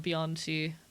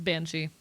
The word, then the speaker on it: Banshee: Because in my conlang it is a Bianchi. So sometimes my brain defaults. It's Banshee.